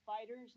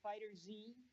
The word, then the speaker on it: FighterZ: It is pronounced Fighters, not Fighter Z. I can see why people make that mistake, though. You know. Certainly. The Z is kind of a big orange letter.